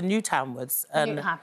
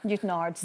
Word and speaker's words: Newtownards: Speaking of your doorstep, your family moved to Newtownwards. Newtownards, as we say back then. It's spelt like that.